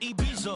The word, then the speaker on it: Ibiza: Yeah, it's pronounced Ibiza, actually. Yeah. What's the difference, man? Ibiza.